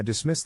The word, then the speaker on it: dismiss: is in this case the accent is in the second syllable corresponding to Mis low are other ways